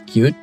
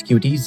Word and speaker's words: Qt: Qt, pronounced as cute, but some people still use Qt just like myself, is a C++ framework that lets you build applications for literally everything.